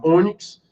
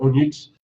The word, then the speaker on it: ônix: Vou falar ônix e vou sempre acentuar graficamente o O com o circunflexo. Caso contrário, a pronúncia vai para o onix, assim como se faz com o xerox.